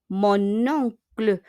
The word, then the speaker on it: mon oncle: Mon oncle. Fais en liaison yung N, idudugtong sa O. We need to connect.